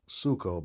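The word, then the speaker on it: ψύχω: Sucho. Sucho. Okay, it's pronounced suko, but it's psycho in English, as we call it.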